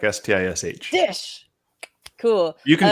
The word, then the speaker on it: Szczys: It's Szczys, right? It's Stish, like S-T-I-S-H.